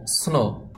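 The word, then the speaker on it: snow: তবে এখানে ডবলিউ যে লেটারটি আছে এই লেটারটি উচ্চারণ আসবে না।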